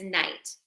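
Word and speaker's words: knight: KN n also says night however the K is silent we're going to get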